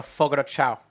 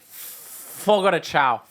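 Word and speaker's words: Fogo de Chão: We should go to Fogo de Chao.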